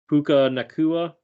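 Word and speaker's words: Puka Nacua: 22 rushes for 104 yards a touchdown uh poku nakua is that how you say his name Puka Puka nakua okay yep anyway he had nine receptions for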